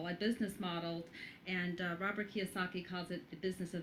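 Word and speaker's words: Kiyosaki: kosaki is how that is that how you pronounce it yes Robert kosaki uhu I know that he is like one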